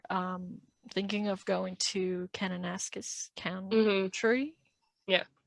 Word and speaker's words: Kananaskis: and i were um thinking of going to kananaskis county tree yeah right now you said it